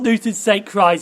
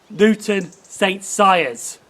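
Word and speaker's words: Newton St Cyres: pronounced that station wrong it's not newton's sake cries it's luke newton saint sires so i'm gonna explain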